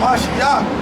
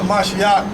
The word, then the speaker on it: Mashiach: Knowing that a Mashiach being raised, a Mashiach, that's how you say it in the Hebrew.